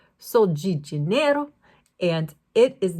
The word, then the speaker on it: Sol de Janeiro: Sol de Janeiro product, and I say G because I lived in Brazil for several years, and they pronounce DEG, whereas in Europe, in Spain, and in Portugal, that DE sound is de, but I would pronounce this Sol de Janeiro, and it is not the same, okay?